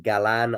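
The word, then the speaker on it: Galán: Galan, I think, is the name, and of the emphasis, I believe, being on the 2nd syllable from Colombia.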